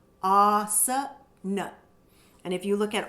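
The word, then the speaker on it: āsana: So many of you know the word asana. So in that we have both the long ah and the short asana.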